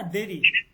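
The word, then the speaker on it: دیر: উচ্চারণ করা যাবে না, কারণ ইয়ায় মারুফের উচ্চারণ হচ্ছে ই ই, আর ইয়ায় মাঝুলের উচ্চারণ হচ্ছে এ।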